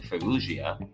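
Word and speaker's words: Farruggia: and retention written by Han Chan woo Susan fuia that is spelled f a r r u g g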